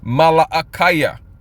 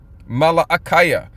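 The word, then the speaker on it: מלאכי: In fact, just to drive that point home a little further, the um prophet Malachi in the ancient PaleoHebrew, you would pronounce his name Malaaya. Malaaya.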